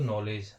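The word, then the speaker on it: knowledge: एक होता है दोस्तों नॉलेज। नॉलेज की स्पेलिंग हम बनाते हैं के से।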